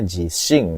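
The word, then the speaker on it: 自信: Hai, ini bacanya jishin desu ne.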